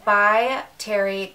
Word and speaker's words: By Terry: So this is the By Terry Cover Expert, and I'm pronouncing it correctly because my friend Trisha works with this line and she told me how to pronounce it.